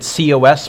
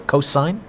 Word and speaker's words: cosine: Cosine, abbreviated C-O-S, pronounced cos or cosine.